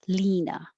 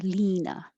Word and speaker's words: Lena: beginning number 21 just l-e-n-a most americans would guess lina with an e your tongue goes higher lina 23 star that's on